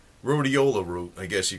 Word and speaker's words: Rhodiola: don't know about it it's uh yeah it's Rola rout I guess you call it that's how